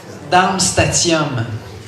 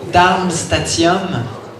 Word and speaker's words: Darmstadtium: Darmstadtium. Darmstadtium. Le D, en fait, avant le dernier T, ne se prononce pas. Le D est muet.